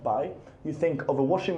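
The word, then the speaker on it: 白: Um, every time you see this character pronounced by, you think of a washing machine and you get white wash from a washing machine.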